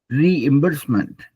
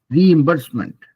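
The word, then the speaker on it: reimbursement: कैसे बोलता है गूगल रीबर्समेंट रिइबर्समेंट रीइबर्समेंट री के बाद रुक जाइए because that gives you more time also to pronounce it रिबर्समेंट बोलेंगे तो ये इ गायब हो जाता है रिबर्समेंट तो हम उसको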